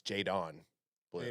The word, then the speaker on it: Jaydon: Jaden. Jaydon. What about Jaden? That's why I kept on saying Jaden because I like Jaydon isn't Jaden. It's Jaydon blue.